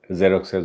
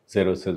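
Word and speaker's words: Xerxes: যে রাজা রাজার যে জেরক্সেস বলে জেরসেস বলে বিভিন্ন রকম উচ্চারণ করে এক্স দিয়ে লেখা বানা তো তার যে পরাজয় সেই পরাজয়কে কে গোটা পুবের পরাজয় হিসেবে তুলে ধরা হয়েছে।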